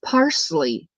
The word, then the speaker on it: parsley: saying it wrong because I pronounce it Parzley. And he says there's no Z in parsley, it's parsley.